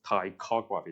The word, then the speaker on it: ptychography: You you are not going to pronounce the P here. So just like psychology, right? So the P the pronunciation is like tyography. There's no P here. Toggraphy.